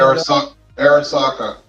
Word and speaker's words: Arisaka: it up because I can't remember how to pronounce it. the Japanese rifle, infantry rifle. Uh, I've got one Arisaka.